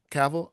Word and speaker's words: Cavill: Henry Cavill or Chris Evans or Seville. Say his name. Huh? Henry Cavil. Is that how you say it? Yeah. Cavl.